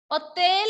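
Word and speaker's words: hôtel: H is silent.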